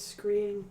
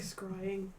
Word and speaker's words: scrying: there to watch really i pronounce that as screen but i like scrying it's crying oops it's like crying with an s at the beginning cry um she thanks